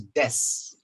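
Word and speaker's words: does: You see, it is written D-O-E-S, but when you pronounce it, becomes des.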